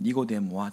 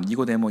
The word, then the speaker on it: 니고데모: 그러니까 니고의 헬라어식 발음은 니코스입니다.